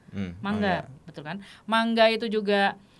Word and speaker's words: manga: juga ini mangga juga mangga kan ini membacanya melafal bukan manga mangga Betul kan mangga itu